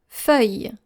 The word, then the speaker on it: feuille: to read something, and they also tend to pronounce the double L in this word. And this is how we spell this word. F-E-U-I-L-L-E. Encore une fois. F-E-U-I-L-L-E.